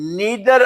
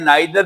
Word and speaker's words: neither: Next है नीदर ऑफ द boys. इसको नीदर भी पढ़ते हैं, नाइदर भी पढ़ते हैं, दोनों प्रोनाउंसिएशंस ठीक है।